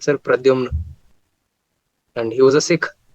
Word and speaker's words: Pradhyumna: How do you pronounce it? I said, sir, Pradyumna. And he was a Sikh. So he said, ki Pradyumna.